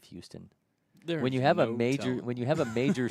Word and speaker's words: Houston: Beasley, another Houston High School, Tennessee, 2029. One gets away from Mosier. I would love to know why in Georgia do we say Houston instead of Houston?